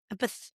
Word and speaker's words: empath: It's like empath, like a path you walk on.